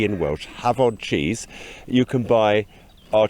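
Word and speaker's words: Hafod: mail order from you yes visit our website have odd cheese that's h a f because f is pronounced v in welch have on cheese you can buy our cheese yes or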